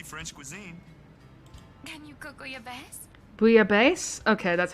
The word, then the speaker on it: bouillabaisse: Can you cook bouillabaisse? Bouillabaisse? Okay, that's how you pronounce it.